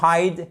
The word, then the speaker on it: hid: To hide, hid, hidden, caché, OK? Et c'est un I court. Donc, c'est la même voyelle à chaque fois. The I, OK? The letter I, but the pronunciation changes.